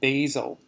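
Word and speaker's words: BAYESIL: on another tool called basil so it's pronounced like the spice but it uses Bayesian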